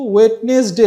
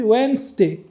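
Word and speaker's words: Wednesday: কিছু word silent থাকে যেমন আমরা বলি ওয়েনসডে সেখানে কিন্তু ওয়েটনেস ডে লেখা বাট আমরা এখানে কি বলি ওয়েনসডে বলি আমরা ওয়েটনেস ডে বলি না যারা ওয়েটনেস ডে বলে সেটা হলো যে ভুল প্রোনাউন্সি আমরা বলি ওয়েনসডে এমনি ভাবে কেউ কি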